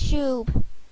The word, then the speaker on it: Shoob: Our band's name is Shoob. Shoob? What kind of lame-ass name is that? It rhymes with boob.